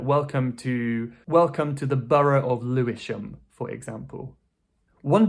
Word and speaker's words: borough: Borough. Americans might pronounce it a bit differently, like 'burrow' or something. But generally in the UK, we say borough.